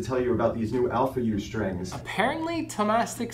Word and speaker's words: Alphayue: very excited to tell you about these new alpha u strings apparently thomastik says you can just pronounce them alpha u alpha u um which just makes no sense